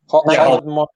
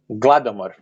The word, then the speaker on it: Holodomor: Holodomor. No, it's not H, it's G sound. Gladomor. That's how you say it.